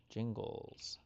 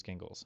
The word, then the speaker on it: Gingles: Jingles case. Multi-member voting districts, which are represented by multiple representatives, are larger in area and population than single-member districts. Thornburg versus Gingles. Gingles. It is Gingles. Okay. Gingles.